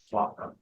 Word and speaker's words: Swatow: Swatow is Shantou. In Teochew language, it's pronounced as Swatow.